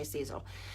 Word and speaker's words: Sezzle: Some people say Sezzle, some people say Sezzle.